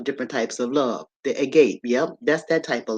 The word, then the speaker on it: agape: This love right here, the fourth type of love, is called agape, and they spell it agape, Agape, right?